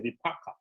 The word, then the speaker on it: vipaka: If you want to say it correctly, it's the vipaka.